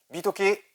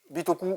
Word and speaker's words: Bitokù: Bitoke, Bitoku, comme on veut.